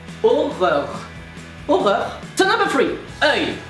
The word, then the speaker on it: horreur: Well, like horror, but you pronounce every single R and you don't pronounce the H. That's legit it. And the thing is, this word is so hard to pronounce because it's the exact same, but you need to completely change the pronunciation. So, horror, you remove the H, aura, and then you pronounce every single R as a French R.